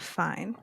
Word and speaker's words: Fiennes: Ralph Fiennes. That's not how you say his name, but No, wait. It's right? not. Is it Raph? Yes. Raph Yes. Raph Fine.